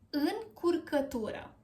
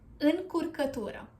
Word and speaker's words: încurcătură: În, cur, că, tu, ră. Încurcătură. Yeah, a bit tricky. Încurcătură.